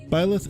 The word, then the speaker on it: Byleth: I think I'm going to pronounce it Byleth.